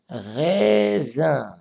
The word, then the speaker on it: raisin: Parce qu'on a aussi la lettre S entre deux voyelles. Raisin, raisin.